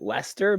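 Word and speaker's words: Leicester: so i i think the normal person pronounces it lester but okay uh maybe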